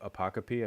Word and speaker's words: apocope: So instead of apocope, I said pocope.